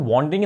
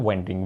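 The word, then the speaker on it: wandering: ठीक है, इसको वॉन्डरिंग ना कहीं, इसकी सही प्रोनाउंसिएशन होती है वेंडरिंग।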